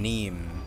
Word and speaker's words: Niamh: here in this place you may call me me neem okay that's your name I was wondering how you pronounce it to a fable pay